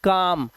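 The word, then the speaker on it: calm: इसे पढ़ते हैं काम। कालम नहीं।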